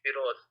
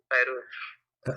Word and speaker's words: Firoz: Actually, you are pronouncing my name wrongly. It is Firoz, not Feroz.